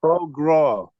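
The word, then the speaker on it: foie gras: tell you one thing if you if you wanted me to pronounce that it's pronounced Pro Gro this the biggest Factory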